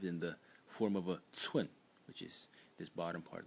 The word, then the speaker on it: 專: So this phonetic series is led by the title phonetic element, which is pronounced zhuan, zhuan in the first tone, and zhuan means special, specialist, or an expert.